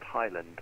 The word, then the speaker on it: Highland: wayo high it's pronounced Highland as in like the Scottish Highlands Highland thanks for the